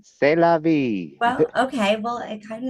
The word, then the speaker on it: c'est la vie: Sieste La Vie, written C'est la by, vie. I didn't say it right. Say La That's Vie, man. c'est la vie.